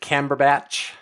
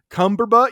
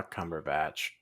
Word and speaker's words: Cumberbatch: my actually my uh my daughters pronounce his name like weird and funky all the time uh my uh my youngest daughter is always she's like cumberbutt you're talk watching a movie about Mr cumberbutt you know she'll come